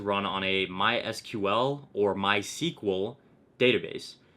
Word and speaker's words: MySQL: on a MySQL or my sequel database MySQL is pronounced my sequel so throughout this video